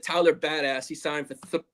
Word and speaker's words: Biadasz: Biadasz, I have to learn how to say his name properly. It's Biadasz, but I'm just going to call him the Badass.